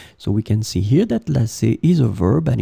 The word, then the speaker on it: lasser: So remember that these two verbs can be pronounced the same way.